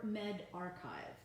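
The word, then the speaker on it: medRxiv: is more accurate the World Health Organization or Med archive so men archive which is spelled med ahrefs IV those are the preprints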